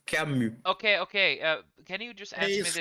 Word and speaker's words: Camus: He's French, so Camus. Camus. Camus. Okay, is there? No, you don't pronounce the S. It's Camus.